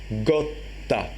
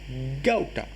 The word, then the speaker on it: gotta: followed by double consonant if o is followed by double consonant then o changes into how for example gotta means a lineage or family got ta that's the Sri Lanka pronunciation in Burmese it is no more gotta gauta okay so that's I